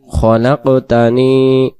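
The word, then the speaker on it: خلقتني: প্রথম শব্দ আল্লাহুম্মা আনতা রব্বি লা ইলাহা ইল্লা আনতা খলাকতানি, খলাকতানি, খলাকতানি। খালাক্তানি উচ্চারণ হবে না, যদি খালাক্তানি পড়ি খটা খা হয়ে যাবে।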